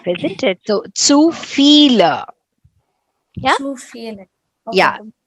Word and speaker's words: viele: It's Viele. B is pronounced as F, isn't it? So zu viele.